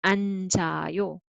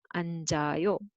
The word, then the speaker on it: 앉아요: So this one will be 안 and 즈 carry over. So 앉아요, 앉아요. However, sometimes some combination we have who here.